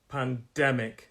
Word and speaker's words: pandemic: the moment pandemic and it's a three syllable word pandemic stress is on the second syllable pandemic pandemic and it's